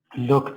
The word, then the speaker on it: lock: Did Jenny lock the door? Yes. The pronunciation is lock, Musa, not look.